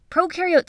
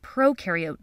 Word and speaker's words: prokaryote: Prokaryote symbiosis means these organisms lived together. So just a recap from our intro to cells video: when you think of prokaryote, think of ‘pro’ rhyming with NO.